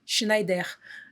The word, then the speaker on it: Schneider: E aí lá eles pronunciam Schneider. E eu acho isso o máximo. Não é Schindler, então a gente não faz elevador.